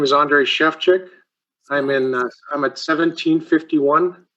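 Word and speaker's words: Sefcsik: and address please yes my name is andre chefchick i'm in i'm at 1751.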